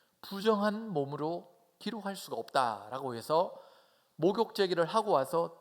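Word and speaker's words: ה: 그래서 이 글자 가운데서 두 번째, 네 번째 글자인 이 해라고 읽는데요.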